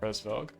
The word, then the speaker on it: Hresvelg: Hresvelg? Is that how you pronounce it? Okay, so it's phonetic. Okay. It is actually exactly like you'd think. Hresvelg.